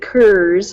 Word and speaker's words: Coors: my family and I have heard other families do call it say kurz there's a lot of Germans that came to Colorado and I know a lot of people probably pronounce Coors and the old German sense and it's probably just been passed down through the generations and that's probably why it's hurt as kurz I'm still sticking with Coors